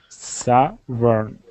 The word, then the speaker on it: southern: But yeah, so just try and, break it up into the syllables like we did. Sa and thern. Southern.